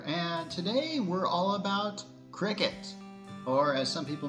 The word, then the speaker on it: Cricut: gate church here and today we're all about Cricket or as some people mispronounce it uh cry cut um yeah we're going to be talking about